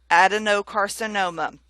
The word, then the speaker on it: adenocarcinoma: So I've stressed that no a little bit more than the other words. Adenocarcinoma.